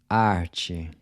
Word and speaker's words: arte: Arte. Part? Parte. Night? Noite. So the “t-e” is pronounced like the “c-h” in chip.